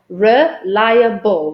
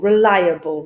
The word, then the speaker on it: reliable: issues with reliable because they also have this extra little syllable there which is liar so i go reliable reliable reliable reliable and if